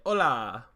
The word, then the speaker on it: Olá: And just look, to our listeners in Brazil, I would just like to say "Olá," and that is how you say it in Portuguese.